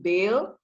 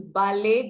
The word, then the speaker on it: Bale: butchered your name so everyone please don't call him bail because that's what i called him the first time so he's ballet all the way from